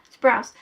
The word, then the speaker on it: Sprouse: Sounds like sprouts. Sprouse. Or spruce, not spruce, Sprouse.